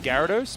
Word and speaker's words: Gyarados: often talk about pronunciation I think it's Gyarados but like yeah people do say there's a y in there right say it with